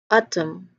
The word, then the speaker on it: autumn: Because the letter N here is not part of the sound of the word. It is not pronounced in the word. We do not say the word as autumn. Autumn. It is not like that. It's just autumn. So N is a silent letter.